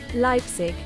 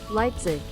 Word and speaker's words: Leipzig: here we go lizig lizig Let's try the American one. Leipzig. Leipzig. Right. So, I've been I've been pronouncing it wrong the entire time.